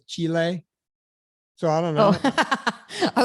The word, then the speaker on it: Chile: i used to say i used to say chili now everyone says chile so i don't know i was like chili like the food oh